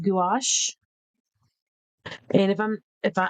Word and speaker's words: gouache: I think it's pronounced gouache.